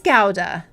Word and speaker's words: Gouda: Bishop it's it's delicious just Huda gowda wow gowda so it is gowda okay oh my goodness